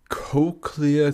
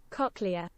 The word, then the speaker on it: cochlea: Actually, a cochlear cicadas.